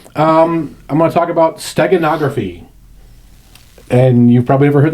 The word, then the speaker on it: steganography: So think about Stegosaurus geography. Wait, is Stegosaurus a dinosaur? Yes. Okay. But steganography has nothing to do with dinosaurs. It's just how to say the word.